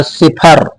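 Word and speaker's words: cipher: उरण हो सकते हैं सीवाई पी एच ई आर सिफर सिफर मीस क्या होता है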